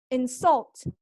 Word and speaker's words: insult: So we have nouns are stressed on the first syllable. Insult, mismatch, rewrite. Insult, insult, mismatch, rewrite. Again, insult, mismatch, rewrite. And verbs are stressed on the second syllable.